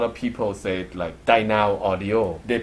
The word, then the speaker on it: Dynaudio: Dyna Audio. We pronounce it Dyna Audio, just in one, not in between. So Dyna Audio is the way we say it.